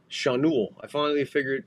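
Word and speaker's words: Schanuel: Chanul. They finally heard how to pronounce this guy's name. Nolan Chanul. That's a fucking throw over to first. Back. Chenol.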